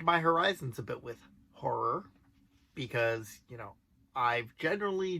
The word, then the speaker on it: ho99o9: band is ho9909 I'm being told that it's pronounced horror Okay then if you say so now that